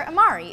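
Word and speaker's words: amari: herbal Italian liqueur is known as Amaro or Amar'e if you're talking about more than one you know the word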